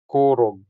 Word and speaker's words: korog: is to shiver or ko rog The stress falls on the first syllable making the first o sound longer than the second o sound. So we get korog.